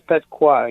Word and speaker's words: Petqua: Did I say the name of the store right with the QUA? Is it Petqua? Is that how you say it? It's correct. It's Petqua, yes.